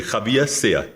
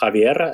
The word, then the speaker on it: Javier: world traveled person and you know that a Spanish name is pronounced Javier so thank you for